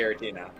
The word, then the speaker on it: Giratina: It's definitely Giratina. Yeah. I guess a similar one, Girafarig or Girafarig? Like, how do you pronounce that?